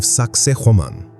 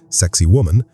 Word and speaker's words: Sacsayhuamán: the monumental complex of Sacsayhuamán. Its name, often humorously pronounced by tourists as sexy woman, is more likely derived